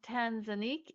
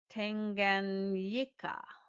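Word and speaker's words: Tanganyika: It is not Tanzanique. It is T A N G A N Y I K A. Tanganika and of course Analia is not the best at pronunciation but that's okay.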